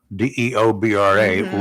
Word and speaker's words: Deobra: This is a guy, but it's pronounced Deborah, Deobra, Redden.